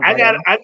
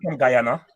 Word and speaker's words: Guyana: I didn't say it right. Did you hear what I said? Did you hear what I said? No. I said Guyana. You said Guyana. Yeah. Guyana. I'm cold. Woo. No, Guyana. Guyana. Yeah. Then I said it wrong, but you know I was going.